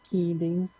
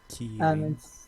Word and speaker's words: Kirin: Yeah, it's like Kirin. Kirin. It's sort of a mix of an L R sound.